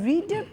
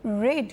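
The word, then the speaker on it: read: তাহলে রিডের past participle কি? স্পেলিংটা একই থাকবে বাট উচ্চারণটা চেঞ্জ হবে, রেড হয়ে যাবে, বাট স্পেলিংটা কিন্তু একই থাকবে। তো রিডই আমরা স্পেলিংয়ে রিড লিখবো, বাট আমরা উচ্চারণ করব রেড।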